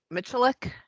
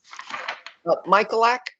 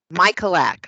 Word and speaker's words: Michalak: um so regarding the training with joe mitchulick is that how you pronounce it carolyn michalak michalak okay i've been calling saying mitchell like michaelak okay michael and then put a lap on it there we go michael act okay joe